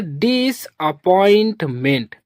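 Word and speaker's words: disappointment: जहां पास भी same word दो बार आएगा तो उसे सिंगल ही पढ़ा जाता है। जैसे यहां पास पी दो बार है। तो इसको सिर्फ पी ही पढ़ेंगे हम लोग।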